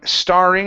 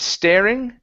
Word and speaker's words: starring: next up is let's see the word um starring right here instead of staring okay Andy is St is starring Andy is